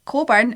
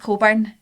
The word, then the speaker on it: Cockburn: But I don't know if you guys know this, but Coburn is spelled Cockburn. Cockburn. Cockburn, like a... no, surely there's people called Cockburn as well. No, it's always pronounced Coburn, right?